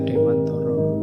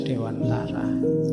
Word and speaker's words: Dewantoro: Ya kalau pakai bahasa Jawa kan bacanya Dewantoro. Nanti yang mungkin tidak familiar ya bunyinya jadi Ki Hajar Dewantara.